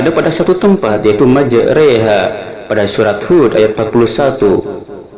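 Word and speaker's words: مجراها: Di dalam Al-Quran hanya ada pada satu tempat, yaitu majreha pada surat Hud ayat 41. Cara membacanya adalah huruf ro harus dibaca miring re seperti kata sate, sehingga kita bacanya majreha.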